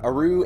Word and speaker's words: Uru: Next up is another Myst game, so can't say much about it, but I guess it's Uru? How do you say that, Naya? Uru? Yeah, Uru Ages Beyond Myst.